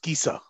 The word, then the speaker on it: Chiesa: all words where C is followed by HE or HI is hard. Okay. So Okay. CHIESA is pronounced Kisa.